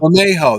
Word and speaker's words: Bermejo: Bermejo. That's how you say it.